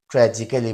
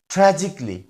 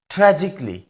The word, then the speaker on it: tragically: সি এই এল এল ওয়াই এটাকে আমরা অনেকে ট্র্যাজিক্যালি বলি কিন্তু এটা আসলে ভুল উচ্চারণ এটার সঠিক উচ্চারণ হবে ট্রাজিকলি ট্রাজিকলি এবং এর অর্থ হচ্ছে বাংলা অর্থ হচ্ছে করুণভাবে